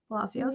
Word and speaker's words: Palacios: Palacios?